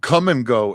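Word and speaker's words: Kum & Go: No, we also have Come and Go, and it's spelled K-U-M.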